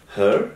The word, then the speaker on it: her: হার, এটা কিন্তু হার না, হার, সিম্পলি হার, উচ্চারণ খুবই গুরুত্বপূর্ণ, কারণ আপনি যখন সঠিকভাবে উচ্চারণ করবেন তখন ইংলিশ স্পিকাররা যখন বলবে তাদের উচ্চারণ বুঝতে পারবেন।